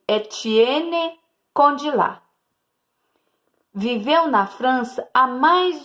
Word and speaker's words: Étienne Condillac: Pronuncia-se Étienne Condillac.